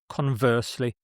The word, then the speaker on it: conversely: The stress is on the second syllable here. Conversely.